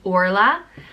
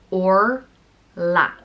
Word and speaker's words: Orla: the next name is Orla an or laughs means golden princess it's pronounced or la Orla there's a lot of different